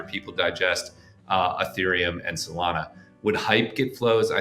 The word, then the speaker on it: Solana: It's a hop to get to Ethereum and Salana, which Tradfi will pronounce Salena or whatever.